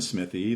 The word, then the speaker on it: Smithee: But how to pronounce that? Smith? Smythe? Smithee? When someone in the room said Alan Smithee, they had found their pseudonymous persona.